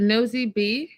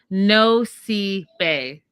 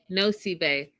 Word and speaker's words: Nosy Be: Oh, is it Nosy B? No, okay, I wrote it down phonetically. Nosy Bay. Nosy Bay. I got it right.